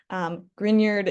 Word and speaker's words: Grignard: So just so that we're kind of pronouncing it right when we say it out loud, Grignard is the way that name is pronounced, and it is the name of a person.